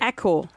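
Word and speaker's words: Accor: So it says pronounce the a in aore like apple. It's pronounced like apple.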